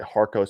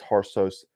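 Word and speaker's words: Harcos: is the harsh sources it's spelled like harkos but it's harsos it's a hung hungarian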